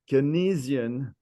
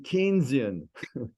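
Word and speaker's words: Keynesian: all these Italians saying pronouncing the word kesian instead of saying kinan so the next day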